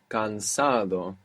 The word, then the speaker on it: cansado: The word for tired is cansado, cansado. Cansado. C-A-N-S-A-D-O, cansado. Cansado.